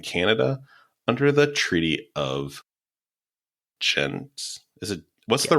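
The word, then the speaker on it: Ghent: under the Treaty of gent is it what's the right way to say it gent is the normal way we say the city in Europe rather than the city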